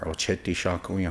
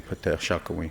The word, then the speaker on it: Oceti Sakowin: They called on all of the Petal Shakawi or Ocheti Shakawi, however you want to pronounce it. But for me, I'd say Petal Shakawi because that's 7 fires.